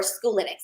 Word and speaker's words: Schoolytics: If you'll actually search for Schoolytics, it's spelled the word school and then YTICS. It's analytics and school put together.